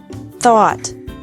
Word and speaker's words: thought: Thought. Thought. Remember that the G is silent in these verbs.